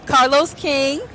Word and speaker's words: Carlos King: So we are here with reality TV kings, Carlos King.